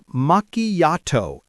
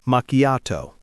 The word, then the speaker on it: macchiato: Oh, and speaking of pronunciation, Ben, you heard some interesting pronunciations before, right? Oh, yes. Once a student told me, "Ben, I ordered a makiato."